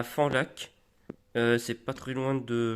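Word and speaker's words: Fanlac: en Dordogne Alice n'hésitez pas à aller à fond lac ça s'appelle ça s'écrit F a nlac franchement c'est très sympa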